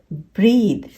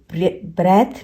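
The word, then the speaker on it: breathe: Okay, other, further, ब्रीथ। ये ब्रेथ नहीं है, ये है ब्रीथ।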